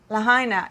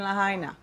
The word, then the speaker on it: Lahaina: I hope I'm pronouncing it correctly, guys. Lahaina. I looked online because I didn't want to be a Harry and not even know how to pronounce the name. But there's 4 pronunciations. One of them said Lahaina, Lahaina, Lahaina, you know, so Maui.